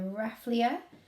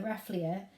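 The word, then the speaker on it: Rafflesia: is called the ref let me say it correctly the wrath Leah the wrath the wrath Leah is a rain rain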